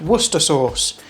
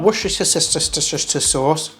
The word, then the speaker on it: Worcestershire sauce: Yeah, 65p that was, for some Worcester sauce. Again, for my American friends, it's pronounced Worcester sauce, not Worcestershire sauce or wash your sister sauce, all right?